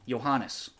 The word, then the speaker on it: Johannes: The J is pronounced as a Y. Johannes.